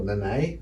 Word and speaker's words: Nanai: And Jeremiah Nanai, he scores, or Nanai, I think I said the other week. And we found out that was the correct way of pronouncing it.